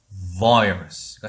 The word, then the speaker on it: virus: 맨 처음에 강 1강에서 나왔던 것처럼 억 상태에서 아라고 하면 그냥 어와 아의 가운데 발음이 만들어지는 거예요. 이해되셨죠? 다시 읽어볼게요. 얘는 억 상태에서 해야 되겠죠. 그러면은 virus가 되는 거예요.